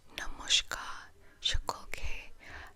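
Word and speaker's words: নমস্কার সকলকে: Namashkar Shakolke. That is how you say hello to everyone in Bengali.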